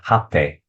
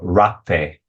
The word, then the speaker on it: rapé: And yeah, it's a kuripi and it's used to apply a medicine, another medicine called hape or rapé, depending on the pronunciation, right?